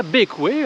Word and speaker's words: Bequia: nous sommes à bekia bekoué en prononciation locale et aujourd'hui c'est jour